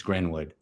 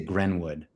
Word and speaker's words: Greenwood: you know it's white because not Greenwood it's grenwood what it they pronounce it Greenwood instead it's spelled Greenwood but they pronounce it grenwood so you know it's it's extra white in